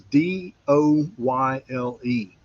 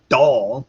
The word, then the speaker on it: Doyle: Well, anyway, I mispronounced it and this student goes, "It's not doll, it's Doyle."